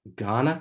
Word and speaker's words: Kaurna: And where I'm calling in from is called Ghana country, pronounced sort of like the West African country of Ghana, but it is spelled Kaurna.